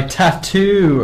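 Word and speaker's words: t.A.T.u.: That was All the Things She Said by Tattoo, according to Dom. Apparently that's how you say it.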